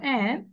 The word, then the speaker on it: and: apple আমরা and ডির উচ্চারণটা করবো না, বলবো and take a big bite.